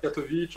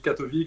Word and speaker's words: Catovic: On dit Katovic, on dit Katovic, ça dépend qui le prononce, ouais.